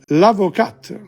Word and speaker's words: l'avocat: We don't pronounce the T.